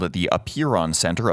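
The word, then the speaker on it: Apeiron: sticklers medical facility is called it the appear on center up here on is spelled a Pei ro N and you can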